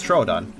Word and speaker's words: Troodon: For instance, that's not Troodon, that's Troodon.